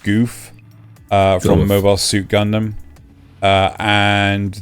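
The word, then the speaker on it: Gouf: The RX-78-2 Gundam, the MS-06 Zaku 2, the MS-06 Zaku 2 Char's Custom, the MS-07, I think that's pronounced Goof, from Mobile Suit Gundam, and the Beam Shield from...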